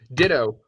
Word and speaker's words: Ditto: And his Twitter handle is Ditto, rhymes with Cheeto, Abbott.